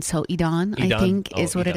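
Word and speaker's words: Edan: I think that's this kid, Aiden. Is that how you say his name? Aiden. Eden. Um, when they say it, it sounds like Elon. So, Edon, I think, is what it is.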